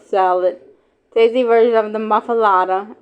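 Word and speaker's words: muffuletta: Tasty version of the muffalada. M U FF U L E T A M or pronounced M U FF u H L E T Uh are available at Central Grocery Cafe Mass Po and Gohan Butcher.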